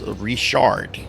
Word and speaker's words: Richard: Um because words like Richard, okay, Richard are pronounced as reshard here, right?